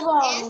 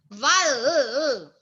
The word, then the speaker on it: oval: That Oval. is an example of oval. Very good. Oval. Again, say the word oval. Oval. Val. Letter L.